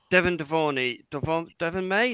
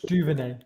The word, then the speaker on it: Duvernay: Ollie, you need to say it like you're French. Duvernay. Duvernay.